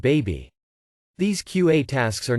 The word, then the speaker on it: bAbI: This QA task is called BABI, usually pronounced baby.